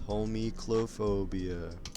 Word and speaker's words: Homichlophobia: For those who cannot pronounce it, it's Homichlophobia.